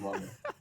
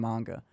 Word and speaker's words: manga: I've tried saying manga. It just comes out as manga, and it sounds so country.